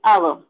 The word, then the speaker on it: hour: Here H is silent one. So we are using an hour.